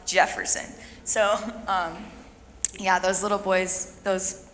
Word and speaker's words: Jefferson: Another little boy was named Ken, but you don't pronounce it Hefferson. You pronounce it Jefferson.